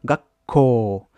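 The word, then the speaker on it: 学校: Quand on a un petit tsu, en vrai, ça, en hiragana, en romaji, ça te double la consonne. Donc tu vois marqué deux fois ka. Mais dans la prononciation, il faut que tu fasses un une comment dire. Ko, tu prononces une première fois, tu fais un petit bloquement, un petit blocage, et tu renvoies la suite de la suite de la consonne, quoi.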